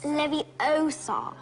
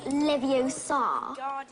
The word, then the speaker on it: Leviosa: It's Leviosa, not Leviosa.